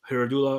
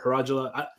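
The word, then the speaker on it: Hierodula: So we had the Herodula or Herodula. I personally like to say Herodula. How do you say it, Bruno? In Spanish, it's Herodula, you know. But oh my God, I want to say Herodula. I'm going to call it Herodula. I mean, in English, it does definitely sound better as Herodula, because it's probably the way you would pronounce it, but.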